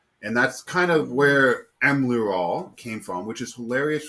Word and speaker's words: Emlearal: You are saying it right. It is very phonetic the way it's Yeah. written. Emlearal, because not just am